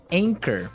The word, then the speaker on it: anchor: But you don't pronounce the CH as you normally would, right? Another one of these really difficult to spell English words. Right. So you don't say anchor, you would say anchor.